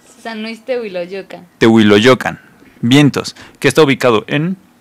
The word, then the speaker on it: San Luis Tehuiloyocan: de Luis te San Luis San Luis Puedes pronunciarlo San Luis teoa lo yocan vientos que está ubicado en dónde se encuentra